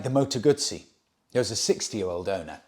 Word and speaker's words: Guzzi: And I explained to him, no, it's not, because two Z's in Italian is pronounced T-S, Guzzi.